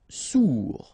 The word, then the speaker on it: sourd: Sourd, final D not pronounced, O-U together, ou, sourd. Ferme, okay, final E not pronounced, ferme.